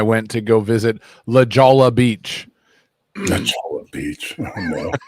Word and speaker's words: Jolla: It looks like Jolla, but to pronounce it in Spanish, it's Jolla.